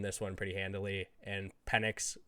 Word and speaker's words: Penix: Michael Penix. That's how his name's pronounced.